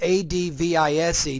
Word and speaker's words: advise: Advise, when you spell it with S, A-D-V-I-S-E, don't ask me why, but when you say advise, that's actually a verb.